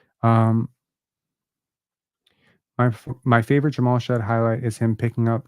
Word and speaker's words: Jamal Shead: know you've articulated it really well it is pronounced Jamal shed okay good that's that's great I don't really